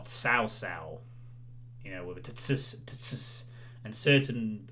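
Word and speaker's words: Cao Cao: chinese pronunciation i mean i used to call like in dynasty warriors uh cow cow you know the leader of way but actually it's pronounced more sausal you know with and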